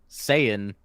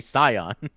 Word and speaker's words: Saiyan: Dragon Ball's actually done the same thing, because like notoriously they pronounce Saiyan wrong. Yeah, it should be Scion.